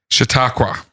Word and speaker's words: Chautauqua: Chautauqua.